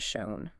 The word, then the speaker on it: shown: Yeah, you would logically think that adding an N to make shown might change the vowel, but it doesn't.